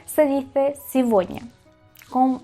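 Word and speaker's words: сегодня: Y no se dice cigoña.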